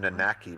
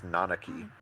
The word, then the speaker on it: Nanaki: just weird I mean I used to call him nakaki but apparently is nanaki it is oh it's